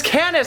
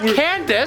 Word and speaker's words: Canis: But it's Canis, not Candace.